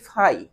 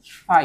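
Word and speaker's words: φ: একটা কোণ দেওয়া এই কোণটাকে আমরা উচ্চারণ করি ফাই কি উচ্চারণ করি ফাই এই যে এটাকে এটাকে এই উচ্চারণটা করা হয়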